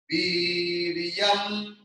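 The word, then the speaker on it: वीर्यम्: Saha Viryam. Saha Viryam. Viryam. Because V is E.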